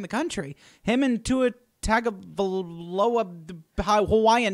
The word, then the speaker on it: Tagovailoa: I told my partner in crime, Jordan Plain, that my biggest accomplishment in 2018 was learning how to pronounce his name, Tagovailoa.